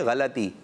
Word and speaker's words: غلطی: قاری صاحب کو سنائیے, اور جو مسٹیک ہوگی, غلطی ہوگی, تو قاری صاحب اس کو درست کر دیں گے. بعض بچے, بعض بڑے بھی غلطی کہتے ہیں. کیا کہتے ہیں؟ غلطی. غلطی. صحیح ہے غلطی.